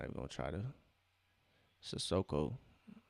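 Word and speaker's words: Cissoko: Sissoko. That's how you pronounce his name, Sissoko.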